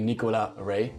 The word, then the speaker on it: Nicolas Rey: you easily knows well my name is actually Nicola array yeah how to spell it and I see Ola s and last name rate are e Y so it's in fact in a French name that's why right away the s but you never pronounce